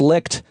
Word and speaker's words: Licht: Is it Licht or Light? Like, do we know how it's pronounced? Have you heard it? It is Licht.